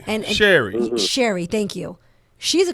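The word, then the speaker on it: Sherri: got it in the bag and that's the Cheryl I hope say her name right but that's the one that took the place of Wendy Williams right and Sherry Sherry thank you she's a comedian she's a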